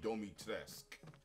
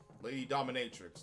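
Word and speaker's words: Dimitrescu: I literally learned that, like, how you pronounce it is Lady Domitresque. And what the fuck is that? Lady D, man. My cousin, man, he was mesmerized by Lady Dominatrix.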